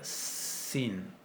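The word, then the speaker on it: שׂ: A la derecha se va a pronunciar shin, y con el puntito a la izquierda se va a pronunciar sin.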